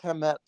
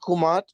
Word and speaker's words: Kemet: Afrocentrics love saying Kemet. But we've always pronounced Kumat.